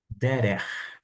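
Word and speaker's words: דרך: Derer. Derer, caminho. Você já aprendeu a pronunciar.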